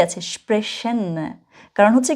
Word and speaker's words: sprechen: আমি এখানে একটা বলেছি স্প্রাখেন, আবার বলেছি স্প্রেশন। এক জায়গায় আমি খ উচ্চারণ করেছি, সিএইচ এর উচ্চারণ যেটা সিএইচ, আরেক জায়গায় আমি স উচ্চারণ করেছি, ঠিক আছে? মনে রাখবেন, যদি কখনো আপনি সিএইচ এর আগে এ, ও অথবা ইউ দেখেন, তখন আপনি খ উচ্চারণ করবেন।